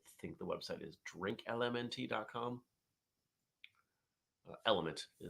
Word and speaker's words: LMNT: Element is really the product, but they spell it out LMNT.